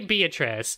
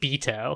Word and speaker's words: Beatrice: Look, Beatrice, we say Beatrice. You do not say Beato.